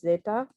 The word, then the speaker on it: zeta: the last one is the letter name is zeta and it makes like an s sound like the s sound in english so you can see